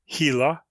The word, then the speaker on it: Gila: The lizards are all perfectly harmless, except the sluggish Gila monster, pronounced Gila, named from the Gila River in Arizona, which